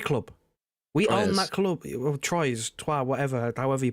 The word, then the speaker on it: Troyes: He plays for, I believe it's pronounced Troyes, in France, which is another CFG club. We own that club, Troyes, whatever, however you pronounce it, right?